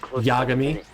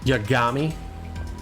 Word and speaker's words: Yagami: games is very long we stick with the very japanese pronunciation like yagami kamarucho hitting that first a verses kamarocho or yagami so explaining that to